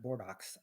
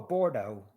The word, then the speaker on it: Bordeaux: I was given the pronunciation of Bordox. Oh, sure. Oh, not a paper airplane or a Tonka. Oh, Bordeaux.